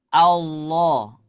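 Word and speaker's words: الله: setelahnya tebal contoh ya misalkan kita ingin mengucapkan Allah Allah ya karena lamnya tebal Alif alifnya hamzahnya ikut-ikutan tebal Allah mis qulhuwallahu Ahad Allah Allah nah kenapa saya sampaikan ketika kita mengucapkan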